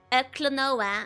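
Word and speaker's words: Klonoa: Um, one of the buns is saying that matches should play Clonoa. Is it a platformer? Yes. How did you pronounce the game? It's a very Clonoa.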